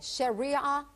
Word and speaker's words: Sharia: Okay, tell us a little bit about, how do you pronounce it? Sharia law? Sharia law? Sharia law.